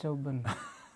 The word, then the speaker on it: Durban: It's so hot in, how's it pronounced? Durban? Dubai. It's not Dubai. It's South Africa, honey. Oh, it's Durban.